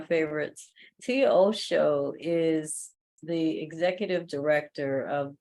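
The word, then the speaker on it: Tia Oso: Everybody, Tia Osho, did I say it right? Yes, you did. Okay, just like Osho, one of my favorites. Tia Osho is the executive director of Build Power.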